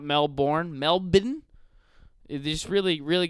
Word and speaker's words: Melbourne: every breath every goes to New Orleans and Mel borne not Melbourne but anyways Australia fans that being said keeps